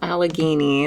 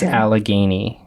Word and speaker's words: Allegheny: of names Alicia did look up how to pronounce it so aligene is what we're going with trans alagan trans alagan trans alagan okay we got it you got it all